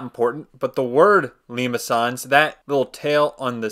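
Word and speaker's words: limaçon: But that tail basically means you want to pronounce it as the soft C, which is why it's a Limacon and not a Limacon.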